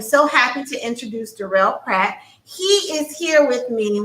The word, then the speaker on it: Peart: I'm doing well, and it's pronounced Peart. A lot of people pronounce it wrong, but it's fine.